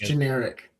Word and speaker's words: Ginex: I don't know if I think it's literally pronounced generic. Yeah, it is. Okay. It's not spelt that way, but I think that's how it's supposed to be pronounced.